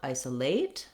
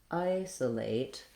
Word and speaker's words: isolate: Lastly, we have a clear diphthong A in the 8 syllable isolate, but watch out that you don't want to stress it. You don't want isolate, rather isolate. This late is short, even though it has the clear vowel because it's unstressed.